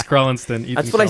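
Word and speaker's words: Crelinsten: him how to pronounce his name? Because What evidently you got that wrong again. It's Krellenston.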